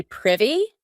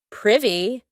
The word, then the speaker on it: privy: To be privy, and note that pronunciation, not privy, privy.